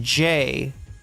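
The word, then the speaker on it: เจ: Um this is a uh word in Thai that's pronounced J, right?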